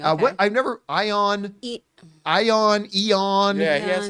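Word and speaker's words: Ioan: I've never ion ion Eon yeah he has like such a hardfield I think that's how you pronounced his name yeah iama it's Welsh so it's all it's all consonant whatever I like him though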